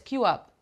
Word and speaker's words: queue: like five letters but we pronounce it like a word like one letter Q here yes have a